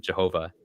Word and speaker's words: Jehovah: aren't the true God, but rather Yahweh or, everyone, Jehovah, to use the more traditional pronunciation.